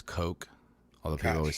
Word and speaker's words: Koch: and I think it's Coke. Although people always say Koch. They say Koch, but I think it's pronounced Is it Coke.